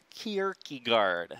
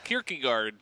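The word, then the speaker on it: Kierkegaard: amazing how do you say his name again Kier guard KY guard yeah big fan sounds like a like a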